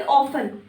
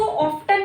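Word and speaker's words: often: Fourth word quite ऑफन। इसको ऑफ्टन नहीं पढ़ना, कई बार इसको स्टूडेंट्स ऑफ्टन प्रोनाउंस करते हैं जो कि गलत है। टी is totally silent, ऑफन होगा। क्वाइट ऑफन का मतलब होता है अक्सर।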